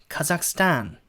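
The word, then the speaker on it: Kazakhstan: 발음해 보자 며 는 카자흐스탄이 아니고 가 삭스 탄 그 삭스 탄 이렇게 발음합니다 제가 완벽한 원어민 발음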